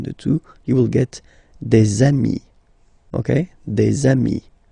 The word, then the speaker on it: des amis: two, you will get des amis, okay? Des amis. So ami, remember, doesn't change. Even if you get to write the S, then you don't pronounce it, okay?